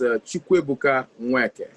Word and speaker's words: Chukwuebuka Nweke: So the exact pronunciation is Chukwuebuka Nweke.